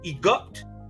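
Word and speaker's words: Egupt: of a great drought the angelic being egot which is spelled e-g-u-p-t and is the t is spoken got you know what i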